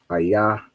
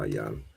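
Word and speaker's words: איה: Ayah is where. All right, so go back here. We have ayah, not ayan.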